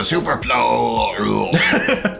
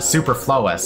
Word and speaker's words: superfluous: to have yes once we sifted through the superflow details ah the Superfluous super superfluous I know I know how to